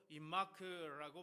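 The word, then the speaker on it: עמך: 이 단어는 히브리어로 임마크라고 발음을 하는데, 하나님께서 이제 직접 함께 하시고 가까이 계시고 떠나지 않으시고 버리지 아니한다, 이런 의미가 다 담겨 있죠.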